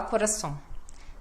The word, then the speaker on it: coração: essa sílaba nasal como coração ó coração tem que dar ênfase no ão aí a pessoa fala coração coração e cadê a ênfase confusão Nossa que confusão